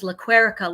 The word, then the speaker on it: Lequerica: And it was easy to say, my name is Lequerica, like America.